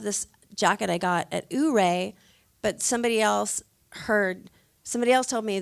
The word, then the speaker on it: Ouray: Ouray. So the town's pronounced Ouray, but they also pronounce this Ouray and Yure and Ire.